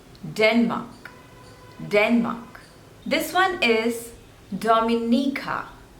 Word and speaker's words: Dominica: Denmark this one is Dominica there are total Force labels and you have to stress on the third one Dominica Dominica Dominica Dominica